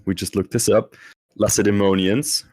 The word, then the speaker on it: Lacedaemonians: Then we have and we just looked this up, Lacedaemonians, right?